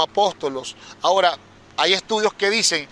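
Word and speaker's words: ἀπόστολος: una cúpula pero la la palabra apóstol significa enviado y en el griego se pronuncia como apóstolos ahora hay estudios que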